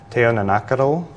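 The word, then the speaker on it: teonanácatl: The Aztecs called psilocybin mushrooms teonanacatl. Am I pronouncing that right?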